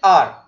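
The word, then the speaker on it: our: या अपना अब इसको आवर मैंने बोला पहली बार सबको समझने के लिए but when यू speak English यू pronounce it आर वह हमारा काम नहीं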